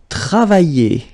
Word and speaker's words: travailler: And then the first one, it will be travailler. Travailler. Okay, remember when you get this I and then double L like that and a vowel, I, travailler, okay, travailler, and it means to work, okay.